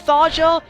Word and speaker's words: Tharja: for that I get thya and yes I pronouncing the J like a y which I had a